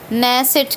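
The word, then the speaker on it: Knesset: नेसेट, KNE, नेसेट, के silent है, ठीक है।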